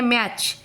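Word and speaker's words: match: वैसे ही आ गया मैच, MA मैच, CH टी का प्रोनाउंसिएशन नहीं हो रहा है, ठीक है।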